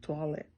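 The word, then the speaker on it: toilettes: for a bathroom and you don't pronounce the es in French just toilet so after that you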